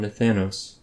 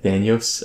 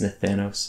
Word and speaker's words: Nathanos: And when we get there, we'll try to take down Nathanos. Also, I've stopped pronouncing it Nathanios.